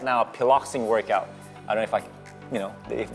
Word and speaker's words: Piloxing: So can you explain to us what Piloxing? Do I? Yeah. Are we pronouncing it right?